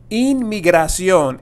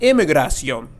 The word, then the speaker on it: Inmigración: But there is an N, N-A, and there's also an M. M-A. Inmigración and not immigración.